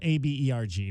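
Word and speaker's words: Åberg: So Ludwig Aberg, it's spelled A-B-E-R-G, but it's there's a little Oborg. line over the A, though, right?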